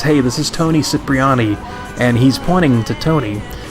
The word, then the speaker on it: Cipriani: letter for Claude, Toni mispronounces his last name as Cipriani rather than Cipriani, which is what was established as the pronunciation during the mission Cipriani